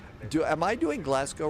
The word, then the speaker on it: Glasgow: Glasgow. Not Glasgow. Not Glass. It's Glasgow. Okay.